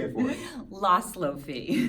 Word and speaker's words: Laszloffy: Laszloffy. Laszloffy.